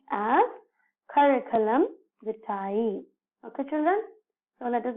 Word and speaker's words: curriculum vitae: So we generally pronounce this as curriculum vitae. So we should stress to each and every alphabet in this letter. See, curriculum vitae.